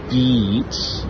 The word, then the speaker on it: beach: It's okay, so if you're saying bitch, that's like a female dog. And if you're saying beach. Beach.